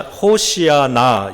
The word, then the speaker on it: 호산나: 둘째로 군중들은 큰 소리로 호산나 호산나 이렇게 외쳤다고 합니다. 호산나는 히브리어인데요. 호시나 호시아 호시아나 이런 발음이고요.